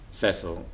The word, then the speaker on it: Cecil: Yeah, I think people use both, and I don't think he ever cared. Cecil is what he says.